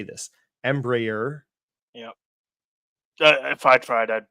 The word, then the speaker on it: Embraer: their own Jets how do you say this Embraer yeah if I tried I'd butchered more so so but they they don't